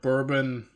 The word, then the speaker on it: Bourbon: Imagine you lived under the Bourbon, it's how you pronounce it, the Bourbon monarchy.